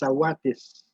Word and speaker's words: Sawatis: Jean-Baptiste became John, and Jean-Baptiste, the way people spelled it, the Mohawk Soundex pronunciation of Jean-Baptiste is Sawatis.